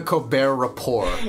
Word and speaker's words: Colbert Report: Yeah, is he taking the piss out of the fact that like, haha, you don't pronounce the first T, so haha, let me not pronounce the second T.